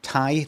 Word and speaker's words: Ti: And you could say, but you've got if you don't got a 4070 Tai, that's how you pronounce it.